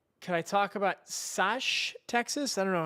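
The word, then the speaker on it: Sachse: Pronounced Saxi. Okay, good to know.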